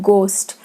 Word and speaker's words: ghost: Here height, this GH is sound, and the sound of H is silent in the word ghost, and so on.